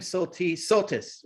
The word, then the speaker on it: Soltisz: And thank you for telling us it's Soltis. I have been pronouncing that wrong.